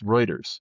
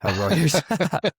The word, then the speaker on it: Reuters: Obviously, I know you started out as an account manager at Rooers America. Um, but like, you know, what were you thinking there? You know, how just so you know, it's Reuters. Reuters.